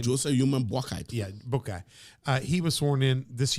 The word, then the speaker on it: Boakai: Yeah, Boakai.